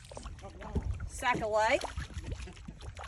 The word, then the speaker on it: sacalait: Sacalait.